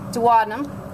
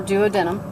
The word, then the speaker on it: duodenum: Safa kiss again pancreas duodenum or duodenum your your choice on pronunciation that's about it for